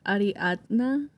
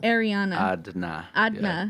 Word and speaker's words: Ariadna: your name marty um it's ariadna a dna not ariana yeah like dna um yeah i always